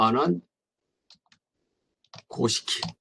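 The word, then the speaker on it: 阿難講式: 보통 뭐 일본말로 아난 고시키라고 읽어요.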